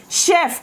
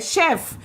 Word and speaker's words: chef: आपने सुना होगा ही इज अ शेफ, शेफ इस वर्ड की प्रोनाउंसिएशन क्या है, शेफ, CHEF, शेफ, शेफ, मेरे साथ बोलो शेफ।